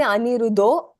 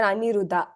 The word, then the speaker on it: Aniruddha: So you can either say Aniruddho or Aniruddha.